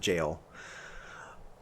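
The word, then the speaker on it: Gaol: know it's seen its it looks like it's pronounced like would be pronounced this gal or Gail whatever but it's pronounced in jail a land not the one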